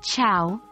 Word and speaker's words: ciao: city cafes when saying ciao the sea sounds like CH in chocolate and the iao is pronounced like the word how it's fun easy and